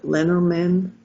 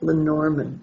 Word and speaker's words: Lenormand: bird lenormand or um some people pronounce it leonard men that sounds too much like joel j leno yeah so lenormand right and their fortune telling